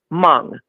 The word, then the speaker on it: Hmong: Hmong. They're HMONG. And but it's where are pronounced they from?